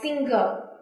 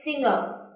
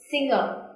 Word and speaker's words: singer: oh this is interesting a lot of vietnamese students often read it like single but it's not so remember to pronounce it singer singer i can tell you